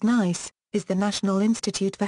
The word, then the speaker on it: NICE: received favorably by all ni SI e often pronounced nice is the National Institute